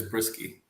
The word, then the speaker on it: Bryski: had a question because i call you bryce he calls you brisky which one is right the correct thing the correct answer is brisky risky okay so i've been saying it wrong johnny's had it right this whole time nice so he's been